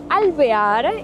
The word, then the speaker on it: Alvear: Sí, Alvear Icon, Alvear es la forma correcta para pronunciarlo.